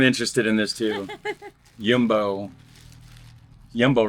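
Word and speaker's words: Jumbo: Yumbo rapper. That's how you pronounce it.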